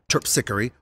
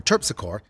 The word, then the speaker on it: Terpsichore: Charles on the parade route, like Melpomene or Melpomene, Calliope or Calliope, or Terpsichore or Terpsichore, it's New Orleans. You can pronounce them any way you want.